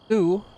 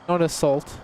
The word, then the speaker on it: Sault: Sault. Ignore the salt.